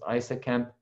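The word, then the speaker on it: ISAKMP: Internet Security Association and Key Management Protocol, it's pronounced ISACAMP, is used for negotiating, establishing, modification, and deletion of security association between the two ends of that tunnel.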